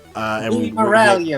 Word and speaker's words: Morel: we're here with Louis moral uh and Lou Morel you m Louis Morel mistake sorry doing that American version of yeah we're doing have pretentious French pronunciation quite I don't know why